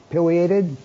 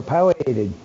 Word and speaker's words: Pileated: Woody the Woodpecker the you could pronounce it either Pileated or palliated however you want to both are correct um and they're really